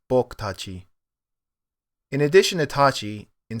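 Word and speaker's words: 僕たち: The U on boku is also dropped a lot, so it sounds more like boku tachi.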